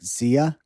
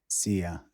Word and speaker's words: szia: but it's spelled like SZIA. SZIA. And you pronounce it like Zia? Yeah, like see ya. Zia.